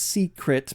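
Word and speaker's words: Seecret: secret Friday update and it's pronounced secret because there are actually two e don't know why Notch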